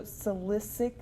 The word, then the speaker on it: silicic: it turns into hydro silicic acid i believe that that's c that first c at least is pronounced as an s you're not going to